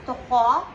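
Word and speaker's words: trois: This is tokho, because S is silent here, and R is given again K sound.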